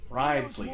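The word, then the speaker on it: Wriothesley: Risley, that's how you say it.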